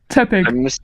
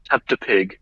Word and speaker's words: Tepig: Tepig. I mispronounced Tepig as Teptapig.